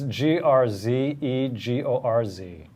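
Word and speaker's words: Grzegorz: instead of Greg I said it earlier it's gr zeg orz Greg drugs wars rutkowski pretty good yeah this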